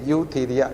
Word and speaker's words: Eutheria: है ना, ईयू, EUTHERIA, यूथीरिया, ई से शुरू होता है, EU, ई साइलेंट है एक तरह से, यूथीरिया।